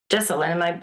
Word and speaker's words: Jesselyn: Jesselyn. Jesselyn, am I pronouncing it correctly? Yes, that's correct.